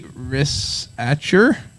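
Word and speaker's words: Risacher: It's Zachary Rissacher. Okay. It's French, but I don't think there's any French pronunciation.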